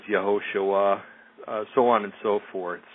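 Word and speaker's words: יהושע: the Hebrew alphabet, and anything that's usually spelled with a J is usually starts with a Y in Hebrew. For instance, Jerusalem is Yerushalayim, Joshua is Yehoshua, so on and so forth.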